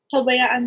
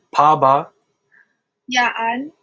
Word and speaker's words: pabayaan: Pabayaan mo ako. Pabaya what? Paba. Yaan. Pabayaan. Mo ako.